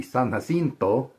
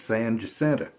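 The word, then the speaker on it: San Jacinto: Mexia or San Justa, which in Spanish would be Saninto. Everybody else would think is San Hento. To us, it's San Justa. And don't tell us we're saying it wrong.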